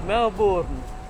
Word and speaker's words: Melbourne: You go to Melbourne. When you go to here, the Bourne is not a Bourne, it's Melbourne.